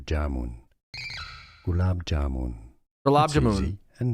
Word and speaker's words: Jamun: It's Jamun! Stresses on the first syllable. Jamun.